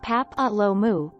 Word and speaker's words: papilloma: The most common STD is the human papilloma, pronounced pap-a-lo-mu, virus, or HPV.